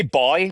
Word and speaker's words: buoy: I would I would say boy, by the way. I would say boy, but I'm trying to say American. Yeah, I would say boy. But you would say boy as well. It just confuses people when you say a boy floating in the middle of the ocean. It's we would say buoy in in in Canada.